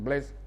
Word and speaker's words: Blaise: Blaise se escribe, se lee en francés Blaise, o Blas en castellano, Blas Pascal y Leibniz.